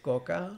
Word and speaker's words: Coca: I think it's pronounced Coca. Coca. That's like straight up Hispanic style.